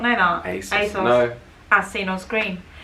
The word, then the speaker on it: ASOS: The next one on the list, which I know 100% Americans say wrong, is ASOS. It's ASOS. It's ASOS.